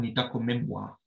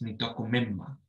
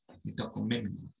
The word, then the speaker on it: nitakomimma: So it's not nitakomimwa, it's nitakomimma, nitakomimma.